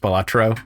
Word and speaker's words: Balatro: is a lot of fun I pronounce it batro but in classic fashion uh there is a tweet from the dev that just says it's pronounced batro so I think people like of course it